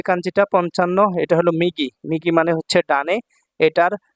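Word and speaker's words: 右: দেখুন 55 নাম্বার যে কাঞ্জিটা 55 এটা হল মিগি মিগি মানে হচ্ছে ডানে এটার চাইনিজ উচ্চারণ হচ্ছে ইউ এটা চাইনিজ উচ্চারণ হচ্ছে ইউ এটা যখন সিঙ্গেল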